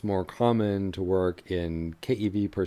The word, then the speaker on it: keV: and Tera electron volts so these are usually pronounced Kev me gev and te and so those